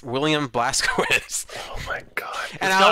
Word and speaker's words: Blazkowicz: They pronounced his name right because it's Blazkowicz. Like you have to kind of like they say it like that.